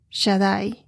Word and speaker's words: Shaddai: Dios Todopoderoso Y eso en hebreo es el Shadai el de Dios Shadai s h a d d a i así se pronuncia que significa todopoderoso en inglés es God